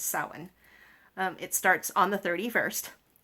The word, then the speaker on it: Samhain: I know most people are used to seeing it Samsain, and they think it's pronounced Samhain, but it's Samhain.